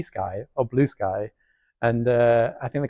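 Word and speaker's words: Bluesky: it's B sky or blue sky and uh I think the consens of it people should pronounce it Blue Sky not be Sky I don't know um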